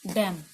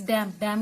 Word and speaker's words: damn: डैम में MN होता है, डैम। ठीक है, तो इस डैम होता है कोई भी बददुआ देना। ठीक है, डैम क्या होता है? बददुआ देना, DAMN। ठीक है, तो यहाँ पे N साइलेंट है आपका।